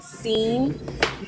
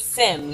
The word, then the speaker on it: Sim: get where people say Seam, but it's Sim. So Yeah. like Sim, that's why she calls him Simmy Jimmy because it kind of rhymes.